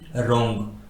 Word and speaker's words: wrong: R आता है तो उस वर्ड में W साइलेंट होता है, जैसे कि WRITE राइट, WRONG रोंग, WRIST wrist, WRING रिंग, WRINKLE wrinkle.